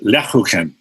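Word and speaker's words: Lebkuchen: My grandmother would make lechuken, which is a gingerbread.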